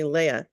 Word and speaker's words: Leah: so funny is that half the people I know call me Leah and half the other people I know call me Leia and um and I'm